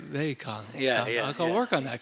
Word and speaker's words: Vivekananda: No, Swami, they say Vivekananda, but you say it differently. Well, Vivekananda. How you? I would emphasize the second syllable, so Vivekananda. Vivekananda.